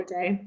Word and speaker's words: ADAY: We say it either way, Okay. ADAY or ADAY.